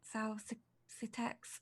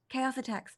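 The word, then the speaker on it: Xaositects: I say it completely wrong but they're the South's attacks I can never pronounce the name a AUSA Tex chaos attacks thank you the chaos attacks yes so not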